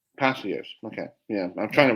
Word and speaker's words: Palacios: Palacios. Palacios.